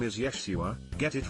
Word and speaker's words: Yeshua: yacht oh my god jesus is actually pronounced yeshua i doubt he would